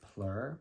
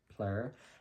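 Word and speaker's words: Phlur: introduction to this brand I believe it is pronounced plur p-h-l-u-r plur and I did Tangerine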